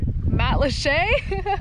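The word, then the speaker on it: Matlacha: Matalacha.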